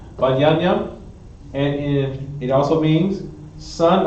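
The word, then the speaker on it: בנימין: We have the tribe of Benjamin, which in Hebrew means Ban Yam Yam, which is pronounced Ban Yam Yam, and it also means son of my right.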